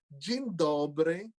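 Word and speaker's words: dzień dobry: poland they speak polish to say good morning in polish you say jin dobre jindobre and uh maybe i'll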